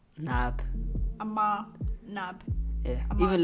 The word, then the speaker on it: Naab: how did you say your last name nab nab yeah even like my name's moving on mom